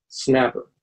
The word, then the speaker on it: SNAPR: For example, the spelling of the SNAPR departure is pronounced snapper.